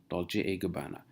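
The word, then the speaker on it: Dolce & Gabbana: Gabanna and it's called dolce gabbana and it's not and it's Italian it's pronounced as a dolce gabbana so dolce gabbana has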